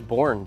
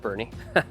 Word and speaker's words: Boerne: kind of like where's borne Texas and then obviously we got educated really quickly that it's pronounced Bernie um I had personally